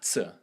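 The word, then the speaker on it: ț: But how do you pronounce that T with a little hook under it? Tse.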